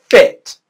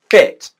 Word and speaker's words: fit: word fit which is a short english vowel sound you want to pronounce the vowel sound for roughly the same length as it takes to click your fingers fit fit whereas for feet it's